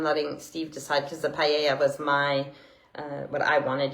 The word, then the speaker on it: paella: Yesterday we had, I say paella. Some people say paella, if you want to pronounce the L's, but the guy was trying to teach me how to say it there.